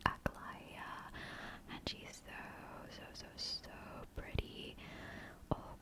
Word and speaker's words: Aglaya: I had no idea how to pronounce her name at first. I thought it was Aglai. But now that I started the quest, it's actually Aglaya.